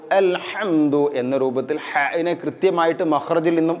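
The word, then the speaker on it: الحمد: അൽഹംദു എന്നുള്ളത് അൽഹംദു നോക്കൂ ഹാ യിന് പകരം ഹിന് പകരം ഹാ വന്നു കഴിഞ്ഞാൽ ഹംദ് എന്ന് പറഞ്ഞാൽ അർത്ഥം ഇവിടെ നശിക്കുക അല്ലെങ്കിൽ അണഞ്ഞുപോകുക ഈ രൂപത്തിൽ അപ്പൊ അൽഹംദു സർവ്വ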